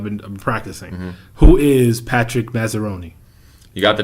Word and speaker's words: Massaroni: So who is, and tell me if I'm saying your last name wrong because I've been practicing. Who is Patrick Massaroni?